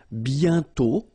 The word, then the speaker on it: bientôt: And then bientôt, okay, remember you put this accent circonflexe but you don't write it. You write it but you don't pronounce it, and then the final T is not pronounced.